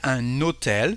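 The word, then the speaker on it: un hôtel: all the time for if you have a plugged H here we will say an notel so here we have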